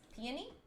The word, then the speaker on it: Peony: she introduces herself uh as peony uh as in like the flower peony oh yeah peony barrel uh